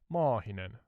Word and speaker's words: Maahinen: I teach you to say a long A in Maahinen? Certainly. Please go ahead and teach me how to pronounce Mahinen with a long A. Yeah, Maahinen. Just extend the A part slightly, and it sounds better in Finnish.